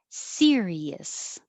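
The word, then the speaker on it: Sirius: consciousness consciousness sagacious sagacious serious which is a star and also the name of music um programming you can pay for in your car which sounds the same as number 19 serious 20 is a name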